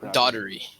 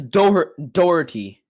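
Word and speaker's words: Daugherty: i didn't brad daughtery it is definitely not daughter-y bro it's daughter no no it says dougherty dougherty dougherty yeah dougherty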